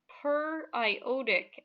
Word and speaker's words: periodic: hydro hydro brahmic acid now that looks like periodic acid but that's actually pronounced per i otic acid that's a polyatomic ion